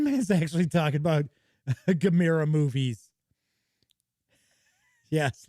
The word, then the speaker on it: Gamera: in the u.s it's a lot of people pronounce it gamera but it's actually gamera the turtle the new now i didn't i